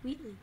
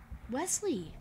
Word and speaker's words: Wheatley: Wheatley. Wesley! It's not Wesley. It says it is. I just got his name wrong. It's Wheatley. I like these things, they're cool.